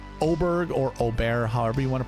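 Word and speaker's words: Åberg: want to pronounce it I know it starts with an A but he's from Sweden he's got the a with the two dots above um you make the O noise so Oar oberg I'm not a huge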